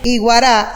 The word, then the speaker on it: Iguará: Iguará es una palabra india y quiere decir tierra de grandes árboles.